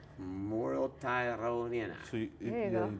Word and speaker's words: Muruetagoiena: That's Muruetagoiena. Muruetagoiena.